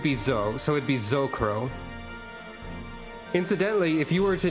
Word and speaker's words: S'crow: You would say that as Zocro.